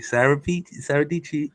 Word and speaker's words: Peachy: Financially, like, hey, Sarah Peachy, rhymes with peachy.